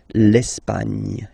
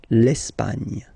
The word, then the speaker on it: L'Espagne: Okay, don't insist on the final E because basically it's not pronounced. L'Espagne. Gna, gna, gna. L'Espagne. L'Espagne.